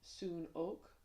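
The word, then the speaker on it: Hsunok: So if you want to look up Burmese soon oak, you'll see them and it's spelled H S U N O K. So the H is silent soon.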